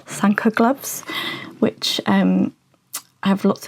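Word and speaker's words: Sanquhar: reminded me of the is it Sanka it's pronounced the Scottish um Sanka gloves which um have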